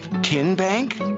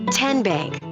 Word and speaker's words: TN Bank: the name tn bank no tin bank uh-uh so what is it ten bank ten as in tennessee right here where all